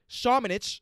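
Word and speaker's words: Šamanić: They was actually starting Lucas Shamanich.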